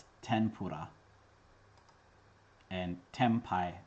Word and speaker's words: tempura: pronounce with an n the japanese n is not equivalent to n but rather a nasal sound it's pronounced differently depending on what kind of sound comes next when n is followed by a labial consonant it assimilates to an m that is the answer